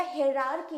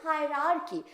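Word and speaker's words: hierarchy: इसको अगर हम लिखते हैं तो ये प्रोनाउंसिएशन क्या हो जाएगा? हेरार्की हो जाएगा। और हम लोग बोलते हैं हायरार्की।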